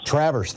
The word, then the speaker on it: Traverse City: to dave from is it traverse city traverse traverse thank you but spelled like traverse yeah all right and if you've